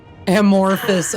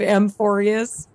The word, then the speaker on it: Amphorius: Amorphice. Oh my gosh. The game awards when they pronounced cuz they did like a teaser sneak peek of Amphorius. They called it Amorphice.